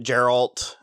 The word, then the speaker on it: Geralt: then she ran into Geralt and it's Jared's a hard G it's Geralt Harold sorry so what